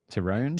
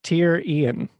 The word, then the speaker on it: Tyrion: Tyrone?